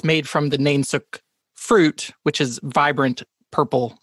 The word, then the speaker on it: nainsook: It's nainsook. N-A-I-N-S-O-O-K. Nainsook. What? Yeah. Nainsook. Spell that again.